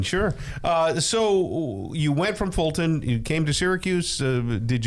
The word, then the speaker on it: Fulton: Well, Fulton people are people too. He did. Contrary to popular belief. He pronounced the T in Fulton.